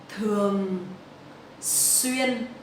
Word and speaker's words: thường xuyên: Thường xuyên. So the TH in Vietnamese we will pronounce like thờ. It's not the in English.